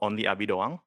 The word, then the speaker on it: OnlyAbiDoang: So, um, I'm the owner of the channel Only Abid Dawang. Uh, that's how you pronounce it.